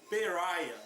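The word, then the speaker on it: Pariah: de identidade passou a se chamar párea ou perea né que é uma maneira correta de pronunciar Em inglês esse nome que significa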